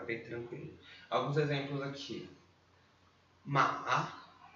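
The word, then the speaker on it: 马: Ma, terceiro tom. Ma, né? Desce e sobe, aquela tremidinha na sílaba.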